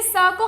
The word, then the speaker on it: sake: ये सा को हम कैसे प्रोनाउंस करते हैं? जैसे फ को, जैसे हम फादर बोलते हैं वैसे हम साके बोलते हैं. सो जैसे हम फा बोलते हैं वैसे हम सा बोलेंगे. साके.